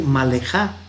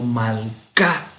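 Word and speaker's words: מלכה: o un sheva mudo, entonces no vamos a decir malejá, sino malka. Este sonido no va a ser malja, sino malka.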